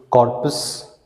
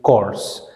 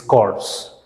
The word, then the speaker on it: corps: are cops and chords here the p is silent we do not say Corpus we say it course and we can't even